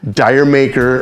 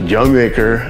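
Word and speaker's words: D'yer Mak'er: when you put on dire maker or actually it's pronounced young maker as according to the band um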